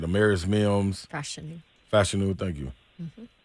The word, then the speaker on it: Fashanu: Fashanu, thank you.